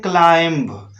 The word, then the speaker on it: climb: अक्सर लोग कुछ वर्ड्स लिखते हैं जैसे CLIMB, तो इसको पढ़ते हैं क्लाइंब।